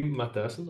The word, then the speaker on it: Matthyssen: do so I'm maton I will pronounce my back name like I would say it in Dutch um I live in